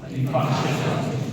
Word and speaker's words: infarction: INFAR, but R is silent. R is silent. That's how we pronounce infarction.